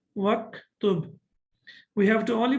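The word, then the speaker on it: واكتب: Okay, now we know that the hamza of uktub is hamzatul wasl, and when we connect it, we don't pronounce it. We don't read it. So that's why we say waktub.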